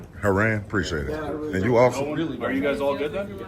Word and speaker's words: Heran: I I don't know how to pronounce it. I don't want to butcher it, man. It is Haran. Haran.